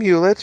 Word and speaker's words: Hewlett: Hewlett? Is that how I say his name, guys? Tom Hewlett. Right? Yeah, Tom Hewlett, formerly of Konami, now at Way Forward.